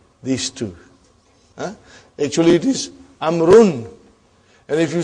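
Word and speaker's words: عمرو: Why do you have extra vav? It is not read. It is not pronounced. It is only written. Why? Just to differentiate between these two. Actually it is amrun.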